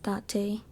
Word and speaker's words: Date: So yes, his name is pronounced Date.